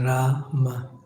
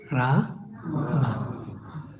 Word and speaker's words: Rama: The Hare Krishna Maha mantra is Hare Krishna and Rama, not Ram. Rama.